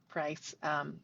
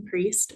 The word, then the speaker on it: Priest: I hope I'm saying your last name right, Price, from the city's Resiliency Office. Hi. Hi, Commissioners. Hi, Chair. I'm Priest. No worries on the mispronunciation. I always say just like the Catholic guy, which he may not approve of.